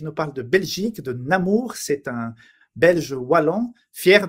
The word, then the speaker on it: Namur: Donc, on prononce ça Namur, mais Namur, ça me va très bien aussi.